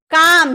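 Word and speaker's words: calm: पाम यानी कि हथेली काम सी ए एल एम एम के पहले एल है ना तो काम यानी कि शांत।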